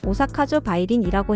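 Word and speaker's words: 大阪城梅林: 해요 다음은 오사카성 메림이에요 일본어 발음으로는 오사카조 바이린이라고 해요 천수각 동쪽에 위치한 삼각형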